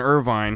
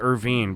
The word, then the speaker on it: Irvine: world it looks like his name's Irvine he pronounces it Irvine but it smelled just like Irvine like the Irvine Spectrum you know everybody has